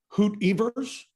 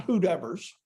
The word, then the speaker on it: Hoot Evers: uh ball player's name like uh hoot evers right not whoever's who neighbors um the